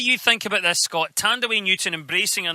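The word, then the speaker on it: Thandiwe: I like the fact that she's claimed back the W. So now she's just got a lot of people mispronouncing two parts of her name. You know, Fand away. All right, Fand away.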